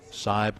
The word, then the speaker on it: Seib: That's S-E-I-B. Seib. Spelled Seib, pronounced Seib.